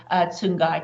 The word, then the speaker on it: Tsungai: You pronounce my name very well. I know sometimes it can be a tongue twister, but you got it right.